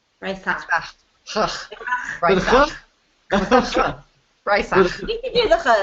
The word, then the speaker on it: Breisach: And I want you to know that I am committed to pronouncing every city properly. So I know Basel, right? And it's Breisach. Breisach.